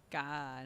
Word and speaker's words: Kad: because it's like it's the gag guy sound in Thai which is like somewhere between a g and a k so it's not God like G and it's not C it's God like it's it is